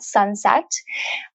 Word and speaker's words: Sunsette: a new app called sunset um the app is spelled s-u-n-s-e-t-t-e and sunset is a